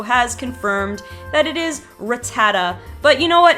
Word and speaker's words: Rattata: Kabutops number two Rattata this is another long-standing Pokemon that has had these two pronunciations I always said Rattata and I heard people say Rattata all the time but I always thought Rattata is right and look they say